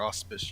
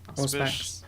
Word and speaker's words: Auspex: We need to figure out how good their auspice users are. Auspex? Auspex. However you say. There we go. I- That's how you say it.